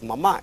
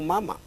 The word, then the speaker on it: mamá: en la última sílaba, porque la palabra es sofá, no sofa. La palabra es mamá y no mama.